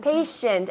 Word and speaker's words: patient: Patient. And with the shant, not obviously you know it's not patient, but you say the sh.